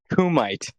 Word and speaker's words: kumite: The kuma. The kumaya. Yeah. Not kum. Kumite. I'm saying it right.